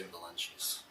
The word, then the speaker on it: Valencius: How do your parents state your last name? They say Valencius.